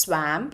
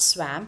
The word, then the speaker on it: swamped: Now, the pronunciation of this word is not swamp. Please don't say it as swamp. It is not swamp, it is swamp.